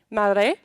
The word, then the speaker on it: Maré: Then we have Henrique Gomes, who is an activist and resident of Maré. Is that correct? Maré? Pronounce that? Maré? Okay. Maré, one of Rio de Janeiro's and Brazil's largest favela communities, with a population of 140,000.